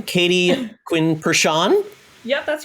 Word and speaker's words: Pershon: i will not destroy your name katie quinn pershan yep that's right i pronounced well well thank you for joining